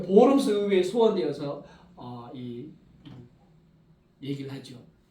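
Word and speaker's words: Worms: 소환을 내가지고 보름스 어 영어 영어로는 이게 워스 이렇게 하는데이 독일로 바르면은가 오비 발음 나거든요 그 보름스 의에 소환되어서 어이 얘기를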